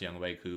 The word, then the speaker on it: Younghoe: And then Younghoe, which I guess is pronounced Younghoe, but it's spelled Younghoe.